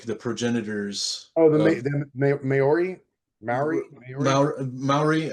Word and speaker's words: Maori: Maori. I think it's pronounced Maori, and then Maoli with an L was the tribe in Hawaii.